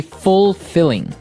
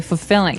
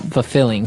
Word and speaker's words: fulfilling: now notice the pronunciation you don't say fulfilling no you say fulfilling fulfilling so the L there is kind of Silence kind of optional but um maybe you